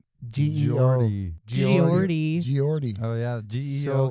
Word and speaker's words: Geordie: Geordie. Geordie. Oh, yeah. GEO So- gives a Joe for show. Joe. So, Joe. Apparently, Bon Scott saw Geordie because they were pretty big, and he's all, dude, I like that singer.